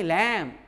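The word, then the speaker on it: lamb: एल एम ई लैम, इन लैम्ब, टी एच यू एम बी थम, इन thumb.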